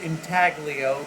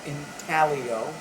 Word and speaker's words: intaglio: manufacturing people the word entaglio that i'm using is most often pronounced in talio it's an italian word and the g remain silent i like to use